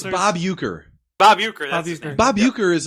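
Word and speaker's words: Uecker: It's Bob Uker.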